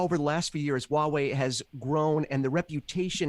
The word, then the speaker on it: Huawei: Well, the biggest thing for me right now is that people can actually pronounce the company that I work for now. Huawei. Yeah, exactly. I've heard so many iterations. Huawei, Hawaii.